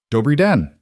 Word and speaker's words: Dobrý den: Dobrý den. Good day. In Czech. Below it, two syllables each. The R is slightly rolled, but don't overthink it, or you'll sound like you're gargling.